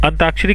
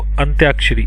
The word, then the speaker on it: अंत्याक्षरी: अंताक्षरी खेली होगी आपने सभी ने, ठीक है, तो अंत्याक्षरी।